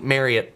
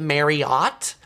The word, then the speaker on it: Marriott: some people pronounce it Marriott. It is not pronounced Marriott, actually. Um, Maria did a video recently saying it is pronounced just like marry, like you're going to marry somebody and it or you're going to carry it.